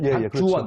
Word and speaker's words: 박주원: 박주원, 박주원. 그렇죠. 발음 잘하셔야 됩니다. 박주원입니다.